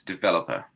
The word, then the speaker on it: developer: The stressed syllable here, guys. Developer.